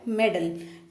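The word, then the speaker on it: meddle: तो जो next word है हमारा वो है मेडल। मेडल, या इसको आप मिडल भी प्रोनाउंस कर सकते हैं।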